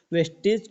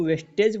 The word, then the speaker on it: Vestige: यहाँ पर वेस्टेज वेस्टेज नहीं है, वेस्टीज है। यहाँ पर आप स्पेलिंग पढ़ सकते हैं, VESTIGE, वेस्टीज। और वेस्टेज की स्पेलिंग अलग होती है, तो आप इसमें ध्यान रखिएगा।